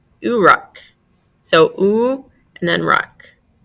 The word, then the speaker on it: Uruk: and densely packed houses so they actually pronounce what I have been pronouncing Uric they say urak so ooh and then